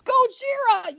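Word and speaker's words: Gojira: is her reaction to him mispronouncing Godzilla go it's goira you Mor it all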